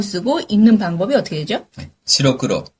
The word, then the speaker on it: 白黒: 시로크로.